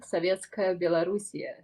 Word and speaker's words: Sovetskaya Belorussiya: We have how I pronounce it is Sovetskaya Belorussiya. Okay, how I'm pronouncing the same, absolutely the same, just with a little accent. Sovetskaya Belorussiya.